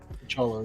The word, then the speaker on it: T'Challa: wada bang, we have like this version of T'Challa. Am I saying it right? T'Challa, right? T'Challa, yeah.